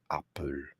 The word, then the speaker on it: Arpels: But Van Cleef and Arpels, how did I not know that? It's not Arpel.